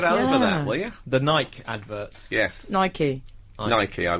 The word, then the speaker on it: Nike: no it's not that Americans say Nike and it's an American brand so it's Nike thank you course young